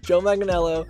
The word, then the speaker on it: Joe Manganiello: batman movie because recently um joe manganiello i pronounced it right joe manganiello who's the guy that was supposed that played